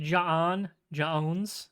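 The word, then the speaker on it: J'onn J'onzz: So, I was actually pronounced like Jon Jons. You like say it like with the with a pause there.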